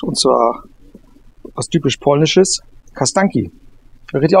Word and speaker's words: Kasztanki: eine Spezialität besorgt und zwar was typisch polnisches, Kasztanki. Richtig ausgesprochen? Kasztanki? Ja, Kasztanki, ne?